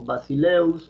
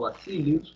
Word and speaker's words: Basileus: Vamos a hablar de su máximo Basileus o Basilius, como quieras pronunciarlo, es griego.